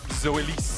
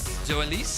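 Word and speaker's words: Zoelys: erls if I if I may tell me zois zois zois is that how it's pronounced that's how law told me to pronounce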